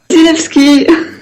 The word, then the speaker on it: Wasilewski: Zilewski. Voilà, c'est dit. C'est super bien prononcé.